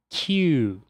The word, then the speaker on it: queue: A pronúncia disso é queue, e significa fila.